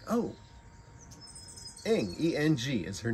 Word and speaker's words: Eng: And she says, oh, it's like your language with an ish. And I'm like, oh, Eng, E-N-G is her name.